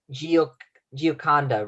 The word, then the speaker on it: Gioconda: Gioconda, right? Ginconda. Yeah, I'll spell it again. G-I-A, right? G-I-A, and then like the word condo, but with an A, C-O-N-D-A.